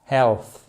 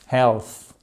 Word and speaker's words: health: Non, c'est un health. Health, health. En fait, vos cordes vocales ne vont pas vibrer. Vous faites simplement health. Mais par contre, faut sortir la langue entre les dents du haut et les dents du bas.